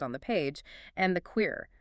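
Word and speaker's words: Qere: the page, and the Queer, that's spelled Q-E-R-E, pronounced K-A-R-Y.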